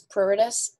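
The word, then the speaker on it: pruritus: right on the countenance the pronunciation is prarit us unless I'm actually just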